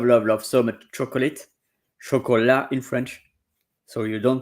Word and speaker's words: chocolat: Chola in French. So you don't pronounce the tea. It's not chocolate.